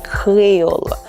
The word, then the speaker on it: Kreyòl: Let's try Kreyòl, Kreyòl, Kreyòl. You see how I'm smiling and my tongue is going to the back? I'm not saying Kreyòl, Kreyòl. I'm not saying Kreyòl, Kreyòl. I'm saying Kreyòl, Kreyòl.